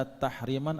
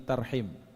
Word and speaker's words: tarhim: sebenarnya dua istilah yang mestinya ketika kita baca itu bukan tahriman tapi tarhim bukan Tahrim tapi tahim tapi mungkin karena lebih enak bagi kita kita bacanya Tahrim padahal mengacu pada aspek